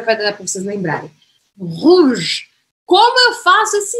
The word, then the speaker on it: rouge: Não vou falar esse E no final. Última coisa que eu pronuncio é o G.